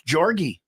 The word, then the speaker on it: Jorge: I'm pretty sure it's Jorgy. I'm pretty sure he That's says a- his You're name looking- Jorge.